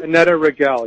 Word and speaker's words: Annetta Rigel: So you have one that has already started, Second Nature, with Annetta Rigel. Is that how you pronounce the name? Annetta Rigel, yeah.